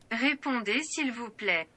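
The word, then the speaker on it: Répondez s'il vous plaît: See, so basically French, all of the words just fall off.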